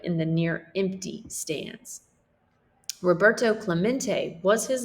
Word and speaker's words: Roberto Clemente: toe Clementi echoed in the near empty stance Roberto Clemente was his name and this is pronounced Roberto Clemente as if to introduce himself Roberto smacked the